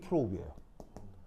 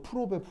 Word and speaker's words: probe: 그래서 얘 이름이 프로브예요. 그래서 이제 이거를 콩글리시로 프로베 이렇게 읽는데 이게 발음은 프로브예요. 알겠죠? 프로브. 그래서 그 탐침을 뭐를 활용해서 탐침을 하겠다는 얘기예요.